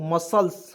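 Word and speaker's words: muscles: यहाँ देखिए एम यू एस सी एल ई एस, क्या होगा दोस्तों, मसल्स, मसल्स मीन्स क्या होता है दोस्तों, मांसपेशी होता है, ठीक है।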